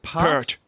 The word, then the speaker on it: Peart: Is it Pert? Pert, is it? Yeah. Neil Peart? Though that's hotly contested exactly how you pronounce that, but I'm pretty certain it's Neil Peart.